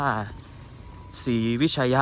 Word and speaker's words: ศรีวิชัย: ครับ จริง แล้ว เขา ศรีวิชัย น่ะ คือ จะ มี การ อ่าน ว่า ศรีวิชัย ยะ คะ ซึ่ง หัว ไช ยะ